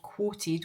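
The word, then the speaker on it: Qwoted: And there's one in particular that probably springs to mind called Quoted, which is spelled q w o t e d.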